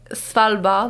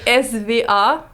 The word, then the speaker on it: Svalbard: Mais je peux parler de Svalbard, mais je sais pas si c'est comme trop loin pour...